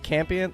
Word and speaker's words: Campion: Campion? Like champion, but without the H? Yeah. That's Campion.